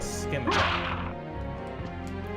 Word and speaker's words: scimitar: Bone scimitar. Okay, the C is silent in that, right? Scimitar.